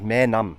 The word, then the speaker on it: Maenam: They told me you don't say Myam, say more name. Just more name.